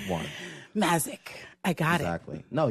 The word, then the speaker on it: Mazyck: I emphatically demanded that she rephrase that pronunciation to the correct one. Mazyck.